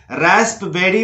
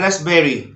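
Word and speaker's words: raspberry: यहाँ पर भी पी साइलेंट है। जैसे इसको रास्पबेरी बोलने की कोशिश ना करें, गलत हो जाएगा। तो यहां बोलना है रास्पबेरी, रास्पबेरी।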